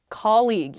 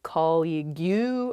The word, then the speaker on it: colleague: colleague colleague yes colleague many of my students struggle with this they say colleague or they say call you or something because the spelling of this word is really really strange there's that g-u-e at the end or more commonly i